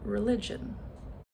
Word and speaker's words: religion: How about the word religion? Religion. So, where's the schwa? It's that first syllable, religion, and it is spelled with an e.